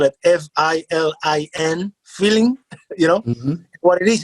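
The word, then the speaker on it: filin: her our own twist on the word we spell it f-i-l-i-n feeling you know what it is is um this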